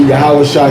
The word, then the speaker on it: Yahawashi: That's how you say it, because it goes into Yahawashi, son of Josedek.